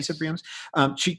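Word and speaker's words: Isa Briones: Issa Briones?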